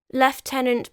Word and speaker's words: Lieutenant: burnt at the stake left tenant by the way I have mentioned this before is the English and technically proper pronunciation of the American word Lieutenant on the 18th of